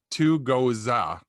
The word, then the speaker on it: Tugoza: It's Tugoza, Z-A on the end, Tugoza. And it's right up because I don't know Beer Advocate, but I'm apparently going to learn that one real quick.